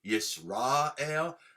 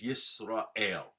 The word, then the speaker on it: Yisrael: Shema under the mem, Yisrael. If it was under the resh, it would be Yisrael, which is how most Ashkenazim pronounce it anyway. I speak Ashkephardic, Ashkenazi and Sephardic. So, my world, it revolves around both. But correctly is Yisrael, okay?